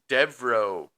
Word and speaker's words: Devereaux: So, my my story is the Devro Mansion, right?